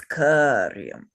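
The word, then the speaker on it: कार्यम्: There are two things on top of that word karyam, and it's karyam because it has a long A marker.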